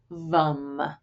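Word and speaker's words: Vam: And then in terms of mantra, you might work with the bija mantra vom spelled va m but pronounced vom.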